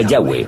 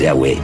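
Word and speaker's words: Yahvé: son y hw etc pensamos que probablemente se pronunciaba yagüe o algo así pero ya ve solo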